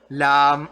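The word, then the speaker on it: لا: It becomes a different shape we call Lam Alif. So this is Lam Alif. La. Lam Alif, which pronounces to La, which is called Lam Alif.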